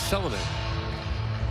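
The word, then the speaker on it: Selänne: In the Finnish case, had Teemu Selanne come over now, his name in Finland is Selanne. In Finnish, the first syllable is always emphasized. In Finland, he's known as Teemu Selanne.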